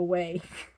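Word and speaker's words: whey: no wheat i'm sorry no way it's pronounced way w-h-e-y i've been eating no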